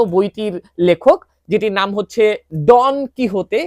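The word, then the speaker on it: Don Quijote: সারভন্তেসকে আপনারা যারা চেনেন না সারভন্তেস হচ্ছেন এই বিশ্ব বিখ্যাত বইটির লেখক যেটির নাম হচ্ছে ডন কিহতে এটার উচ্চারণ এবং ডন কুইকসোট নামে এটার একটা অনুবাদ কিন্তু বাংলাদেশে একসময় পাওয়া যেত।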